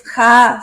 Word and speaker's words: Jah: Es Jah, se pronuncia.